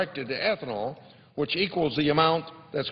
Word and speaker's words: ethanol: You can tell about the ignorance of ethanol in this town because a lot of people pronounce it ethanol, and that's E-E-E-T-H-A-N-O-L, ethanol.